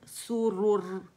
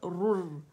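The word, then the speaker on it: سُرُر: तैन रुन, सुरुरुन, वक़फ़न सुरुर, रुर, ठीक है। सुरुर, रोर नहीं पढ़ेंगे, रू है, रुर, ठीक है। इसको पूरा कंप्लीट रोलिंग करेंगे।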